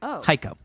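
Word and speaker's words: Heiko: ready for thiso hio h e i k o pronounced like psycho hio spelled like the watch Seiko yeah oh so it's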